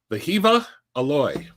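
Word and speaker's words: Wehiwa Aloy: Vahiva aloy vahiva because apparently W's in that language are pronounced with a V.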